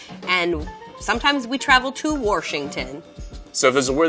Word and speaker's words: Washington: So if there's a word that gets mispronounced in Washington, it's gonna be from the older generation, and it's Worshington. And all of the youngins, we say, no, it's Washington.